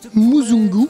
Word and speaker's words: muzungu: ma life aujourd'hui tu nous présentes ton album muzungu est-ce que je prononce bien c'est très bien prononcé muungu muungu mungu en fait ça veut dire l'homme